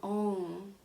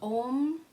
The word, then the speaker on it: om: that also means that we will sing om instead of om right so there's a nasalized sound at the end of the mantra which which is in